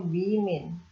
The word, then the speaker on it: women: Bacanya women.